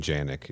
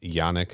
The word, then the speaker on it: Yannick: has crashed after um I could keep saying Janik it's Yannick is that the correct pronunciation it's it's ionic yeah I'm not going back and changing it but I'll acknowledge it here